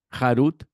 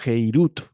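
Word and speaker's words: חֵרוּת: Ahora, este rabino sugiere de esta Mishnah que no se debe leer harut, sino heirut, que significa libertad.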